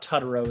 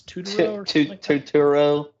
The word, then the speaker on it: Turturro: It's not Turturro. It's Turturro. Turturro. Yeah. When I heard someone say that, I was like, "There's no way that's the pronunciation. It's got to be Turturro." And it is absolutely not Turturro.